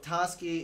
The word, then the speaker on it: Tasuki: And It's like when you get so Tasky is spelled correctly as Tasuki. Okay. The U in this it's just completely silent, but it is Oh, there sweet.